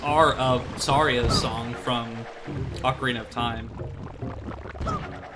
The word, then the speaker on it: ocarina: kid I know that I called the Ocarina or Ocarina whatever the pronunciation you prefer like I called it the orkenda for some reason I don't know where that n came from but like uh